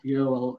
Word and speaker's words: Joel: Yeah, so it's great because there's no J in Swedish, right? It's no, it's pronounced as Y. It's kind of like Y.